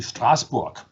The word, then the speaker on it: Strasbourg: spire we get to strasbourg and i know that i just said strasbourg which is the german pronunciation and of course i should say strasbourg because strasbourg is in france but not